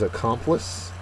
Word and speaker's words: accomplice: go first word is accomplice and accomplice is a noun the uh second syllable is accented it's a person who